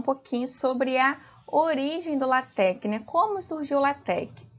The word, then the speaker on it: LaTeX: iremos falar um pouquinho sobre a origem do latc né como surgiu latc o latc ele originou